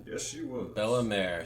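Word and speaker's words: Bellemere: right yes she was Bella May so that's how you pronounce it cool haircut that's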